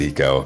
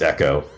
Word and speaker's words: Eco: And I recognize in Russian, well, I pronounce it eco. I recognize it's pronounced echo under Cyrillic pronunciation rules.